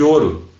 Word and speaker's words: ouro: Eu tenho um relógio de ouro. Ouro. Tu não fala esse U. Esse U ele desaparece, ele é tão fraco que ele desaparece, né? numa pronúncia mais rápida.